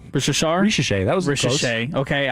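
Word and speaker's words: Risacher: So for the Hawks, and I know you're doing this on purpose because I have trouble pronouncing his name, Zachary Rishashari? Ricochet, that was Ricochet.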